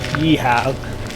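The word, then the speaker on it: Geilo: We are finishing at a place called, it's spelt Velo, but I've read that it's pronounced Yeehaw on some details.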